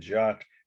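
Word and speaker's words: Jatte: has an e on the end an end jot it means Jetty is spelled in French j a t t e 1886.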